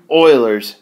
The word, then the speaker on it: Euler: Now, you probably already noticed I pronounced this word a little bit funny compared to maybe what you expected, and let's get that straight right off the bat, that it is pronounced Euler.